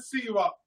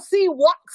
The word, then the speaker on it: Seahawks: All right, now on to the Cowboys and the Seahawks. Cowboys Did trying you hear him say y'all name wrong? He called y'all Seawalks like y'all Ewoks or something. Not Seahawks, but Seawalks.